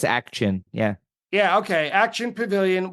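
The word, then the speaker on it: Ak-Chin: And the show that you picked, I might need your help with the pronunciation. It's October 22nd, 2021 at the Action. I think it's Action.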